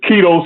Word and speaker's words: Quito: His name is Keto Swan. Koku, you ever heard of him, Keto Swan? No. Okay, his name is Keto Swan. Keto is spelled Quito.